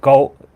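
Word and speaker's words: cậu: The word for uncle is goat. It's spelled Okay.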